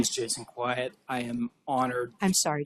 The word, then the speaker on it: Kwiat: My name is Jason Quiet. I am honored. I'm sorry to have mispronounced your name. Oh, no, it's spelled K-W-I-A-T, spelled Q-U-I.